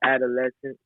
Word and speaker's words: Adolessons: Okay, so this tape is called Adolessons. People are having issues pronouncing it because it's spelled adolescence, as in like lessons learned.